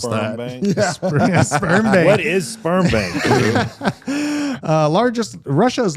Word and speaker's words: Sberbank: Don't mispronounce Sperm that. bank? Sberbank.